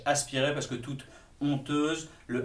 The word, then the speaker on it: honteuse: aspiré, parce que toute honteuse, le H, c'est un H muet, on pourrait écrire honteuse, O-N-T-E-U-S-E, on le prononcerait de la même façon.